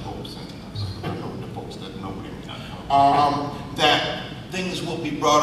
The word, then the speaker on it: Robeson: And I'm hoping that in the museum, in relationship to Paul Robeson, by the way, and it is pronounced Robeson, that things will be brought up about Harry